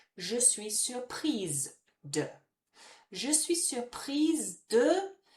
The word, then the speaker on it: surprise: But now with that naked E next to it, it makes us finish on the sound of the letter that comes before it. So I would say, je suis surprise de.